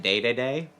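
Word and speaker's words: Dedede: They pronounce it daytoday.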